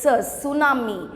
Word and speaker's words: tsunami: you hear the words tsunami so this t is actually silent so you have to start from s but while writing it